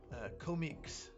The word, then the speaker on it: Comiques: Comiques. Comiques? Mm-hmm. It's comics. Oh. Okay. It's spelled comics, but it's comiques.